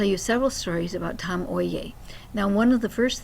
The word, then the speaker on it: Oye: several stories about Tom Oi. Now, one of the first things is that he taught me that um Japanese names always have at least two syllables. And so, it's not oi, it's oi.